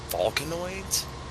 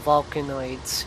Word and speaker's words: Vulcanoids: want to try uh i know i'm probably gonna pronounce this wrong i believe it was volcanoids oh vulcanoids yeah watched it from